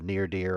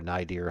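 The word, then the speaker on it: Nyr Dyv: And on the far right is this, lake of endless depths called the Neardir or Nidir, however you want to pronounce it.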